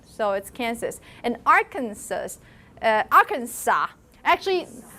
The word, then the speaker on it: Kansas: william clinton is from its ark do you pronounce the last sir in kansas you do yes kansas it's actually a algonquin name it's a native american tribe name so it's kansas and arkansas uh arkansas actually there are two